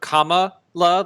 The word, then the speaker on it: Kamala: get used to this it's a comma love like c-o-m-m-a like when you have it in a sentence to separate uh some